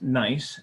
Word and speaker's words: gneiss: reinstalled or re-installed new the pronounced nice gneiss pavers which is also